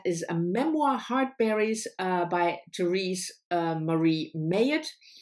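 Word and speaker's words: Therese Marie Mailhot: a memoir, Heartberries, by Therese Marie Mayotte. That's how I learned it is pronounced. If it's wrong, tell me, but that's how Trevor Noah pronounces, and I'm assuming that he knows what he does.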